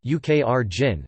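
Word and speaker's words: Україна: Ukraina, Ukrainian pronunciation, Ukrjin, sometimes called the Ukraine, is a country in Eastern Europe.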